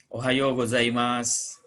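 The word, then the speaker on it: おはようございます: waktu bertemu pagi hari Ohayo gozaimasu Hai ucapane di sini oh yo yo menghadapi bunyi of panjang jadi Ohio tapi kalau dengan kawan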